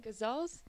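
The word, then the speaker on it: ghazals: because it's traditional the how do you pronounce it again gazelles guzzles guzzles yeah guzzling it's like guzzling tea guzzles um they're like sad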